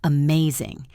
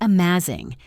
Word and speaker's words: amazing: Now let us try the word amazing. It is not amazing, it is amazing.